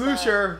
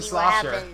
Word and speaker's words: Slosher: She said Slusher, but it's a Slosher. She mispronounced it.